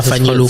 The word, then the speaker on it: Fanilo: y a un truc, ton prénom, ça s'écrit Fanilo. Mais tu m'as dit que ça ne se prononce pas Fanilo. Ça se prononce pas Fanilo, ça se prononce Fanilo. Avec un OU un peu muet.